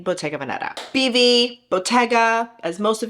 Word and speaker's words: Bottega Veneta: the US pronounce it, but it is technically pronounced Bayga Veneta. It's an Italian brand. Give an ode to our Italian friends. My husband is half Italian. It's Bautga Veneta.